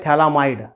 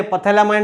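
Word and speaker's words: Phthalimide: इसका नाम है थैलामाइड। The name of the compound is अ थैलामाइड। P silent है, पथैलामाइड नहीं बोलना है उसको, दैट इज अ थैलामाइड।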